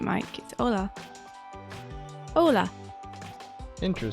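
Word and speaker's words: Hola: you would ever guess you don't have to pronounce the H okay so you were right Mike Ola Ola in crew says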